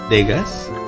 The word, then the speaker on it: Degas: about Vegas is it digas Degas but I happen to hear his name mentioned in the chapter story they actually pronounce it as dega my code name is so it's silent yes apparently the name